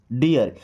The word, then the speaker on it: deer: आपने एक वर्ड पढ़ा होगा DEER, डियर। इस डियर का मतलब होता है हिरण। ओके। तो क्या पढ़ते हैं इसको? डियर। डीर नहीं पढ़ते हैं।